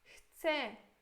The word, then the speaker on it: chcę: Chcę significa quero. Isso aqui é eu, tá? Chcę, mas a gente pronuncia como se fosse chcę.